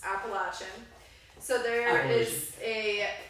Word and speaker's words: Appalachian: Craig made fun of the correct way to say Appalachian which is Appalachian so there are is